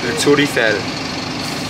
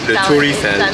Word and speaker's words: Le Tour Eiffel: Le Tour Eiffel. So they're saying the Tower Eiffel. Yeah, Le Tour Eiffel.